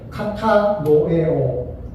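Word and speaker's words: κατανοέω: 생각하라.요 교인 그리스 보전 그 어 그리스의 헬라을 보니까 카타노에오라고 발음을 해요. 다 같이 한번 해보 하도록 해 보겠습니다. 시작 카타노에오 같이 합니다.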